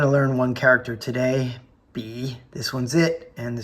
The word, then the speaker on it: bi: In the pin phonetic system, this is pronounced b, not by.